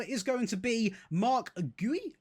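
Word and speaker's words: Guéhi: It is going to be Mark Gooey, I believe, is how you say that.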